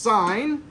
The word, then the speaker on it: sine: why is it on your calculator so it's pronounced sine and it is a function everybody say function